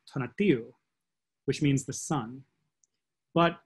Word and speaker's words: Tonatiuh: Donadiu is the Quiche pronunciation of the Aztec name Tonatiuh, which means the sun.